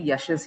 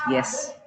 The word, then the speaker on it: Yash: Yash, there are many Yashes here. So if I ask them, what is your name? My name is Yes. No, your name is not Yes, your name is Yash.